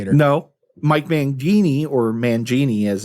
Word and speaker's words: Mangini: No, Mike Mangini or Mangini as it's pronounced is out of Dream Theater.